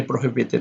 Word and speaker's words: prohibited: We have a 4-syllable word over here, prohibited. So, and the stress is only on he over here.